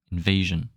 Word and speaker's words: invasion: And when there's an S between two vowels, in French it's pronounced like a Z, not like a J.